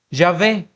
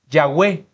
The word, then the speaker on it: Yahvé: En la actualidad, la mayor parte de los eruditos concuerda que Jehová no es probablemente la pronunciación más exacta, ¿verdad? Se piensa hoy en día que la pronunciación del Señor, del nombre del Señor es Yahvé, pero también por la naturaleza de la letra Bau podría ser Yahwe.